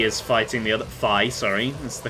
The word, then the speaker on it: Fi: Right, Fi is fighting the other... Fi, sorry. That's the correct pronunciation, apparently.